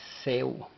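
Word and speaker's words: ሰው: Ahora, la siguiente palabra que presentamos y la cual aprendemos o conocemos es Seu. Seu. La W no lleva pronunciación en el vocal, así es de que es S-E-W. Seu.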